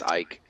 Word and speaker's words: Icke: I'm messing it up but it's Ike okay I used to